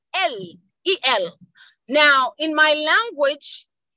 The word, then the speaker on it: El: warrior, is El, but it's pronounced Eri, because we do not have the letter L, okay?